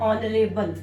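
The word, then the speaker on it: honorable: यहां पर एच जो है वो ह की साउंड नहीं दे रहा है, एच क्या है यहाँ पर, साइलेंट है, और ये किसकी साउंड दे रहा है, ओ की, ऑनेस्ट, ऑनरेबल।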